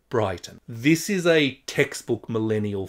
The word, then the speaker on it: Brighton: Brighton is quite a well-off suburb of Melbourne and commonly pronounced like that, not Brighton, but Brighton.